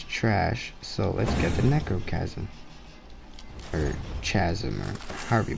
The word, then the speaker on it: Necrochasm: Because my pea shooter I have is trash, so let's get the Necrochasm. Or Chasm, or however you pronounce that. It says Necro, and I think that's Chasm. I think the H is silent.